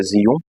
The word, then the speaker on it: Xeon: eu tinha um processador Zion se escreve sheon a pronúncia Zion e dos grandes tá